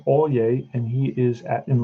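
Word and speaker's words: Alyea: have a kid called brant all yay that's how you pronounce that name brandt olye and he is at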